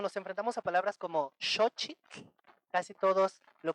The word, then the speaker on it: xochitl: Pero se tiene que decir con la X, xo, y con TL al final. Xochitl. A ver, intenten decirlo xochitl.